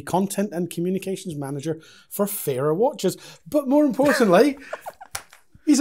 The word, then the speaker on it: Farer: Fairer watches. It is fairer, that's the correct pronunciation. Yes, fairer, not farer or kind of a...